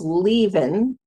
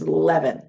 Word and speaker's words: leaven: And it looks like it should be pronounced leaven, but it is leaven.